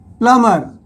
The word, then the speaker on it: plumber: इसी तरह से आगे हम एक शब्द लेते हैं, वो है प्लम्बर, जिसे हम लिखते हैं PLUMBER. इसमें बी साइलेंट हो जाता है, इसमें हम बी का उच्चारण नहीं करते हैं.